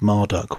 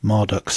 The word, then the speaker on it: Marduk: Continuing the theme of serpentine conquest, Marduk's symbolic animal and servant whom he once vanquished is the dragon Mushusu. And Marduk, whose name was likely originally pronounced as Marotuk, was associated with the